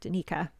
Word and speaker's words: Danica: Okay, Danica. Great. I was putting the emphasis on the wrong syllable.